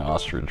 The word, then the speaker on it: ostrich: I don't think you're pronouncing ostrich right. How do you say it? Ostrich. You're saying it like r i d g e. It's i h.